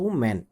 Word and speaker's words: women: एक वचन को, तो हम इसमें बोलते हैं वीमेन। बोला तो वीमेन है, बट स्पेलिंग क्या बनती है? WOMEN।